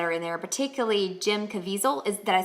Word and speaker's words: Caviezel: So, in fact, I really love the actors that are in there, particularly Jim Caviezel. Did I say his name right? Yeah, Jim Caviezel.